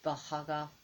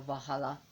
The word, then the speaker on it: Valhalla: In Iceland, some people pronounce in Iceland, the double L is like a k sound. So it could be Valhalla is okay, or Valhalla and Volkswagen.